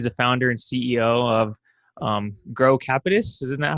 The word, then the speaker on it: Grocapitus: with me he's the founder and CEO of grow capitis isn't that how you say it Neil that's right girl cafes he's a commercial real estate investment company he's